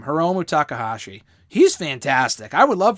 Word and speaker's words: Hiromu Takahashi: or toriano and dan hausen for example uh hiromu takahashi that's how you pronounce his name hiromu takahashi he's fantastic i would love for him to